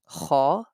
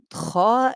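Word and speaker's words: خ: So kha and ghain, the point of pronunciation, the sound of kha and ghain comes out from the top of our throat.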